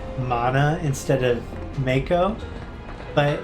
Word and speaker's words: Mako: corrected President Shinra for saying Mana instead of Mako, but it's just that he said it Mako, which is I guess how it's pronounced.